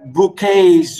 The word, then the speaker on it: bouquet: All over bouquets of roses, bouquets, or if you like, if you pronounce it in the English way, you know, you could say bouquets of roses, but the French we say bouquet.